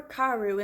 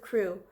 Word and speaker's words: Crewe: difference in the name Madame Pascal pronounced it as if it were karu instead of crew but that might merely